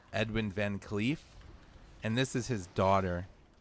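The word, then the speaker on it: VanCleef: it Edwin or Edward it's Edwin right Edwin van CLE and this is his daughter set to avenge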